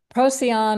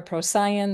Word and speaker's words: Procyon: And it's going to retrograde all the way back to the star Procyon or Procyon. There's different ways of pronouncing that star.